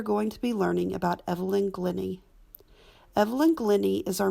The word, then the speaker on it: Evelyn: Actually, it's Evelyn, not Evelyn. Oh, is it? Yeah, it's Evelyn. Yeah. It's like a Scandinavian pronunciation.